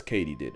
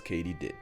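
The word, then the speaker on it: katydid: completely butchered that word turns out it's Katie did as in did Katie do it yes Katie did I'm going to mispronounce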